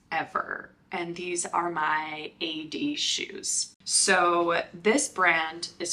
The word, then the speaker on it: Aeyde: and you were like calling them Aid shoes they're called ad shoes so we'll start with